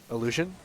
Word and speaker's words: Illusion: That's how you pronounce his name? Illusion? Yeah.